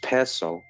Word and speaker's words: Piso: New Testament, the Church, and Christianity were all the creation of the Calpurnius Piso, pronounced Piso, family, who were Roman aristocrats.